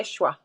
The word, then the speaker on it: Yeshua: nickname i wonder if i could nickname you yeshua that was um well there we go that